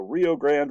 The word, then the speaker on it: Rio Grande: United States says the Rio Grande River or the Rio Grande if you really pronounce Spanish right is the boundary well